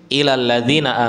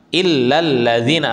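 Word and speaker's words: إِلَّا الَّذِينَ: Ada imam yang membaca wal asri innal insana lafi khusrin ilalladzina amanu wailus shihat ilalladzina amanu. Padahal yang harusnya dibaca apa? Illa illalladzina amanu. Lamnya ada tasdidnya. Lamnya itu ada tasydid, ada penekanan di sana.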